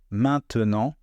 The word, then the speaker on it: maintenant: les mots maintenant maintenant à l'écrit c'est un mot à trois syllables et à l'oral c'est un mot à deux syllabes vous voyez maintenant maintenant c'est la même